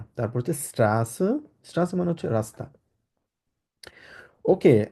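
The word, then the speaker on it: Straße: স্ট্রা আছে সেট সত হ্যাঁ চ হবে স্ট্রা স্ট্রাসে স্ট্রাসে স্ট্রাসে স্ট্রাসে আচ্ছা আবার বলুন স্ট্রাসে আবার এক্সাক্টলি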